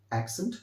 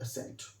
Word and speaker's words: accent: Actually this word is very simple, this is एक्सेंट नॉट असेंट। Okay, एक्सेंट नॉट असेंट। तो मेरी request है कि आप इस वर्ड को ऐसे बोलिएगा, एक्सेंट, this is the right pronunciation.